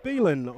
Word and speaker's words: Beelan: Mario Beelan, I'm informed, is the correct pronunciation of the new Auckland City signing.